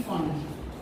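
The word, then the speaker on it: Pfund: और अगर वो 5th पे जंप करेगा then it is called P फंड। P silent है, फंड बोल रहे हैं।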